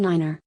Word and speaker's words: Niner: 5 & 9 differs from standard English being pronounced teri Bauer Fife and Niner the digit 3 is specified as 3 so